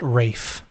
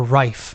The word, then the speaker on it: Ralph: believe he pronounces it Rafe or Rife no Rafe yeah uh like Ray F finds um that's the